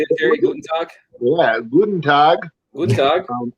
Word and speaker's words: Guten Tag: Guten Tag?